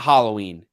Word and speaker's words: Halloween: It's not Halloween. It's Halloween. Hollow. It's a word that has a clear pronunciation. It's hallowed. Halloween.